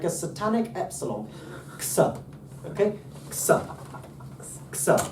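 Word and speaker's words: ξ: You know, ksa.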